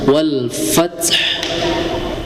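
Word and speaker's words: والفتح: Tapi pada huruf ta itu mempunyai sifat hames. Ya, hames. Jadi, jangan tertutup mulutnya. Wal fath ya. Jadi harus mengalir apa namanya? Ada hembusan wal fath.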